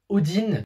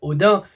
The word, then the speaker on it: Odin: Pourquoi ils disent Odin? Parce qu'à la base, on dit Odin. Moi, on m'a toujours habitué à dire Odin, que ça soit à l'école ou même dans certains jeux.